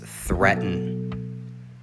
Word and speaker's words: threaten: comfortable number three is threaten threaten the a does not make a sound in this word and the emphasis is on the first syllable threaten the definition to